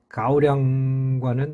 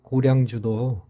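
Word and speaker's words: 高粱: 소비자에게 편안하게 다가왔듯이 말입니다 연택고량주의 중국식 발음 옌타이 군양 우리가 아는 고량 가오량과는 완전히 다릅니다 물론 연태 고량주도 고량 즉 수술을 주원료로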